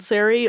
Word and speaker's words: Ceri: It's like Sarah, but with an E sound at the end instead.